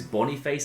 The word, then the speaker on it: Boniface: Hopefully we're going to get a Victor, I believe it's Boniface, that's how you say his name.